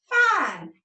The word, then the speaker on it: fine: I'm fine. And that E is silent. It is quiet. It never makes a sound.